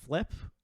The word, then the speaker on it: Flipp: these types of things like uh flip uh so spelled like flip but with an extra P there is too good